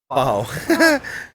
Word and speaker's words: pau: Pau. Pronounced pau generally translates to no more, all gone, or time's up.